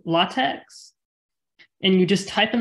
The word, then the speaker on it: LaTeX: It's called LATEX, LaTeX, or LaTeX is I think it's the proper pronunciation.